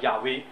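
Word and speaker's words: Yahweh: 今天的人认为，根据这个考证，可能就读作叫亚威，不是贾威啊，是亚威，是吧？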